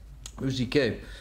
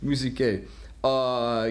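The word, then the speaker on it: μουσική: Musiké. Bon, c'est prononciation, comme on dit, le grec moderne. Musiké.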